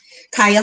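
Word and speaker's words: Carya: Kaya, just C-A-R-Y-A. It sounds nothing like it's spelled, but it's C-A-R-Y-A, H-O-L-M-E-S, everywhere.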